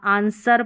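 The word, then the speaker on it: answer: आंसर पढ़ना है। ये डब्ल्यू साइलेंट रखना है।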